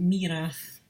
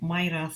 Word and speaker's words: Myrath: I think it's pronounced Mirath, not Myrath as I initially thought.